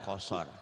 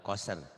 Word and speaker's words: qasr: Benar kalau kosor. Kalau kosor tapi bukan kalau koser. Eh, Innaha tarmi bisyararin kal kosor. Kosor. oh, kosor ya Bacanya Pak Ustadz. dikosor. Dikosor kan bukan dikoser. Oh, bukan koser Nah, ya, koser kosor ya.